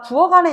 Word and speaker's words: 부엌 안에: 앞에 실질 형태소가 있는 경우에는이 키극을 음절의 끝소리 규칙으로 기억으로 만들어 줘야 돼. 그래야지 발음할 때 엄마 나 부어간에 있어라고 발음이 돼.